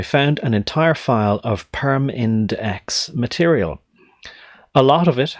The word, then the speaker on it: PERMINDEX: I'm trying to deliberately pronounce it like PERMINDEX, as though there are 3 distinct syllables, because they are shorthand